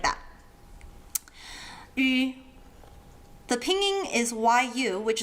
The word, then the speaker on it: ü: It's not pronounced U, as in you and I, but Ü, as in the vowels of the word sweet mushed together.